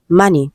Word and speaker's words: money: And the word is money. Okay. Letter O is on the line. It is the A sound, not O.